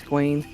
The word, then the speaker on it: Gwaine: Gwaine Doulahan. Gawain. Is it G-A? I just typed it out for you. Oh, Gawain. Weird. Gawain's World? It's like Wayne's World, but it's not Wayne, it's Gwaine.